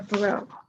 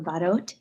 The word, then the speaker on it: Badot: jump over to dr barrow am i pronouncing your last name it's dr badot you pronounce the t thank you thank you